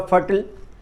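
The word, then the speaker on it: fertile: जैसे फर्टाइल रेप्टाइल missile सिनाइल इनका उच्चारण ब्रिटिश इंग्लिश में आईल होता है। जबकि अमेरिकन इंग्लिश में अल होता है। जैसे फर्टाइल का अमेरिकन इंग्लिश में उच्चारण होगा फर्टल। ब्रिटिश इंग्लिश में फर्टाइल उच्चारण होता है।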